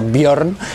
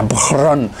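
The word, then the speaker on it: Björn: Se escribe Mjolnir con esta J, porque que sepáis que en sueco, en las lenguas nórdicas, la J se pronuncia como una I, ¿vale? Por eso Bjorn en Vikings no se pronuncia Bjorn, se pronuncia Bjorn, ¿vale?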